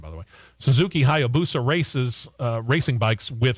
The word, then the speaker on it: Hayabusa: well so they're gonna run race prepped suzuki hayabusa it took me a while to to perfect that pronunciation by the way suzuki hayabusa races uh racing bikes with vansen heinz built